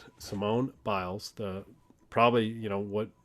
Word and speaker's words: Biles: we record this last night uh simon simone bulls or biles gosh i gotta say her name simone biles the probably you know what most people consider